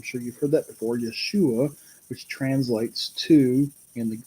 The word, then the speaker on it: Yeshua: kind of interesting that name Joshua is in the original Hebrew is pronounced Yeshua I'm sure you've heard that before Yeshua which translates to in